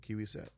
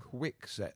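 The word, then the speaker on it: Kwikset: Kiwi set. No, you actually that one was Quick- actually quick- correct, Byard. Quick set.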